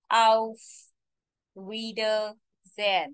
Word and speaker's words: Auf Wiedersehen: Auf Wiedersehen. You have to break this word in three sections for better pronunciation. Although it's one word, so final pronunciation will be Auf Wiedersehen.